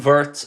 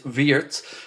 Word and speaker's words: Wirtz: And his name is Vertz, by the way. I've been told to pronounce it correctly. So, it isn't Vertz, it's Vietz. And I'm going to try my best to to pronounce that correctly.